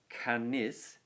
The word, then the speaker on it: canis: So canis, canis, 2 syllables both times.